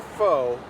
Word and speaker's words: pho: And you just answered my next question, which is it's pronounced pho.